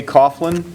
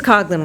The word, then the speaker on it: Coughlin: is it Coughlin or coglin it's cogin with a hard G that's all right it's